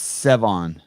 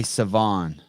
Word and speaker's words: Sevan: didn't say it right it's sevon that's how i've been saying it you say savon okay that's also your friend